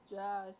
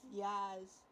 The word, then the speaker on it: Jazz: Yeah, just not pronounced as jazz. It's pronounced as Yaz. I was trying to say, like, yes, it's in, like, the yeah, like, Yaz.